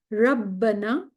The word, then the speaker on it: Rabbana: There are two B's, both will be pronounced Rabbana atmim lana.